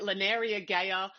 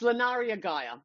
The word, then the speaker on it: Lunaria Gaia: a tricky one so so sometimes I get Laria GAA I get um Laria GAA I get Laria it's Laria Gaia that's how you pronounce my name but you know whatever